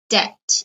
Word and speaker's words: debt: you are in okay notice this word has a silent letter it's debt you do not pronounce